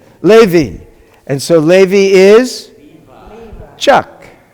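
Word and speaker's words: לֵוִי: We've got two dots, sounds like A. And we've got Hirik Yod, sounds like E. How do you pronounce it? Levi.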